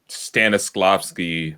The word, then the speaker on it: Stanislavski: It's the Stanislavski method trophy. That's exactly how you pronounce it.